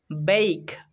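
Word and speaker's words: bake: ই ক উচ্চারণ হবে শেষে ই থাকলে সেই ই সাইলেন্ট হয়ে যায় তো এটা উচ্চারণ হবে বেইক মানে শুকনো ও উত্তাপে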